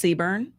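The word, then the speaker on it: CBRN: job in the marine corps the acronym is pronounced seburn okay so it stands for chemical biological radiological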